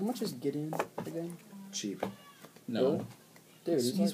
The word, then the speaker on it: Gideon: Let's see, Borgamos, Master Biomancer, Gideon! And then Stomping Ground. Is that how you say his name? It's Gideon!